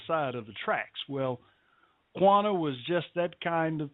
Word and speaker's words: Quanah: And also, you know, what's really gave me goosebumps was the fact that you pronounced QUANAH spot on, boy.